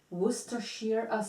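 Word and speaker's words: Worcestershire: that was really good what is that the wer Shear oh okay it's wer Shear okay yeah oh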